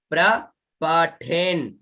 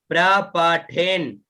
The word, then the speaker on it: प्रपठेन: आगे य इदम प्रपठेन नित्यम, है ना। अब इसका शुद्ध उच्चारण हो प्रपठेन, पठे, अब यहाँ आधा न है, ठीक है। तो पहले प्रपठेन, फिर यहाँ न बचा